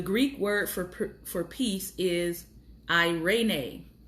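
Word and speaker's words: eirene: word for peace is I rain a sounds like an urban name for a child of 2019 but the Greek word for peace is I rain a is spelled e ir e and E and it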